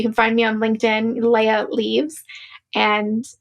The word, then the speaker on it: Leah: You can find me on LinkedIn, Leah Leaves. And it's pronounced like Princess Leia, but written like Leah. So you'll see Leah, Leaves. So Leah Leaves on LinkedIn.